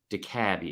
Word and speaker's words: DeKalb: No, it's pronounced DeKalb up there, and I promise you that. Is that real? Yeah, that's real. I didn't mean to call you an idiot. I'm sorry. It's my bad. My bad. But it is spelled exactly like DeKalb, Georgia, which is why you thought DeKalb that.